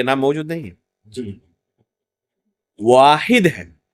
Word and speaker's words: واحد: بعض لوگوں کو آپ پائیں گے وحید بھی اللہ کا نام ذکر کرتے ہیں، حالانکہ یہ نام موجود نہیں ہے. جی واحد ہے، اور دونوں کے تلفظ میں فرق ہے، لکھنے میں بھی فرق ہے یا نہیں؟